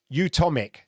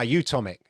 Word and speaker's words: Utomik: they announced recently um yeah utomic ah utomik thank you you tom mick yeah i said utonic utonic yeah no i